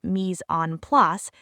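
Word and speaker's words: mise en place: Professional chefs call it mis on plus. Mis on plus is a French phrase pronounced mis on plus that means everything in its place.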